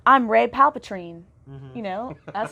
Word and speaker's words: Palpatine: Because she's not going to say, I'm Rey Palpatine. You know? That's not going to go over well. Definitely not gonna say that. How do you pronounce it again? Palpatine.